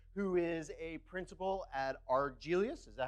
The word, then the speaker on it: Argelius: thank you it's pronounced arg Elias it's a made-up planet from an old Star Trek episode but it sounds like Greek and classy right like if I